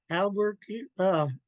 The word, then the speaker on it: Albuquerque: I had to look up how to spell this because we don't pronounce it anyways near the way it's spelled. Albuquerque, Albuquerque, Guis Hanjugan.